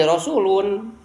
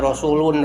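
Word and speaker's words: رسولُ: Jadi diidopatkeun lamun teu diidobatkeun mah ini rasulun. Karena diidobatkan sebagai mudf, tidak menerima tanwin. Jadi dibacanya tidak rasulun rabbil alamin, tapi dibaca rasulu rabbil alamin.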